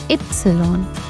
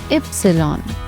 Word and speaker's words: Ypsilon: The letter Y is pronounced as Ypsilon. Once again, Ypsilon.